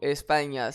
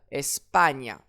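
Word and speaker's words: España: Or si le regarde bien le mot espagna se termine par une voyelle. J'accentue donc l'avant-dernière syllabe. Espagne. Allez, le mot suivant.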